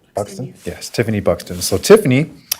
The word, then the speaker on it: Buxton: Buxton?